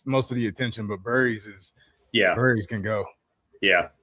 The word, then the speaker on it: Burries: Yeah, Burries.